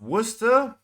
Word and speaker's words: Worcester: because I highly doubt only salty hmm it's pronounced Worcester okay everyone has a different pronunciation that you